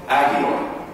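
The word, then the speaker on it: ἅγιοι: Saints being a translation of the Greek word hagioi, agioi, H is silent.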